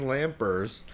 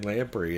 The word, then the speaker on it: Lamprey: And they did a beer one time with Zane Lampers, or Zane Lamprey as his name is actually pronounced.